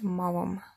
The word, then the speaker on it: Maugham: novel called The Painted Veil by William Somerset Maugham and yes that's how you say his name